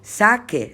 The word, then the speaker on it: saque: la u porque es la única manera para pronunciar bien el verbo sacar en subjuntivo y entonces para escribir saque saques a que saquemos saquéis saquen tengo que acordarme que lo tengo que escribir